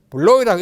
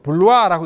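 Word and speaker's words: Bloy: 블로이라고 읽지 않고 블루아라고 읽습니다.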